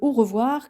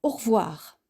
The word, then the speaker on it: au revoir: Dans le registre formel, on utilise le au revoir classique et intemporel que l'on adresse traditionnellement pour quitter une personne après avoir passé un moment avec elle. Cette formule se prononce plutôt au revoir.